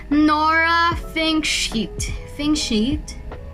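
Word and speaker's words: Fingscheidt: able to pronounce nora think sheet think sheet thinking sheet is right think sheet f i n g s c h d think sheet yanora think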